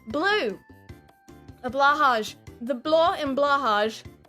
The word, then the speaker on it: Blåhaj: A Blåhaj. The blå in Blåhaj, it's technically pronounced Blåhaj, but we will be saying Blåhaj because it's cuter.